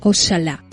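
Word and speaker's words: oxalá: tiempo con la forma ojalá, la X pronunciada como la CH francesa o la SH inglesa.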